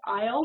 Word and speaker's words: aisle: Now, just looking at this word, aisle seat, the S is silent.